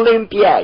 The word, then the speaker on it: Olympia: Olympia, come on, I put the wrong emphasis on the wrong syllable. I know, Olympia, yeah. Olympia. It, next to pulley up.